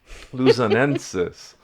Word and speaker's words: Luzonensis: See, I had it, Luzonensis, with the emphasis on the second syllable.